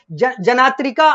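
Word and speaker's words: Jnatrika: यानी कि जत्रिक जनजाति स्पेलिंग अंग्रेजी में आता है जे एन ए टी आर आई के ए जना तरिका अंग्रेजी में इसको लिखते हैं लेकिन ज्ञात्री इसको हिंदी में बोलते हैं या ज्ञत्र का बोलते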